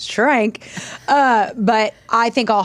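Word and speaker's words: Schrank: I'm not I wish it was Swank it's shrank uh but I think I'll hyphen I won't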